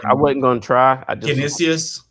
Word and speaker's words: Canisius: Canisius. Yeah, I was going to say Census, but I was looking at the odds.